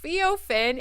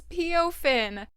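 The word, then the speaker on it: Peophin: And I recently learned that it's not Feofin, it's Peofin.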